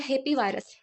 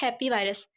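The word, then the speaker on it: Hepevirus: Second number पे आता है हेपी वायरस। यह हीपी वायरस नहीं है। यह हैप्पी वायरस। ठीक है? एच ई पी E pronunciation हम इसके हैप्पी के तौर पर करते हैं।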